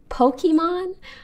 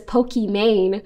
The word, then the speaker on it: Pokimane: That's why it's actually supposed to be pronounced Pokimane. But I understand in English, this just reads as Pokimane.